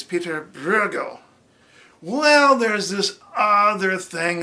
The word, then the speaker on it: Pieter Bruegel: ok so we're like all right so it's Pieter Bruegel well there's this other thing about Dutch they